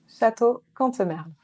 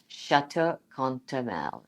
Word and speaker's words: Château Cantemerle: She's the general manager of, it's the pronunciation time of French. Okay, how do you say the winery? Château Cantemerle. Château Cantemerle.